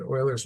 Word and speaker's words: Euler's: the idea is going always going back to Oilers method and that's how you pronounce his name so you know that's good